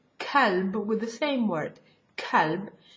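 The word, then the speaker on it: كلب: If I use the soft K, kalb, with the same word, kalb, it means dog.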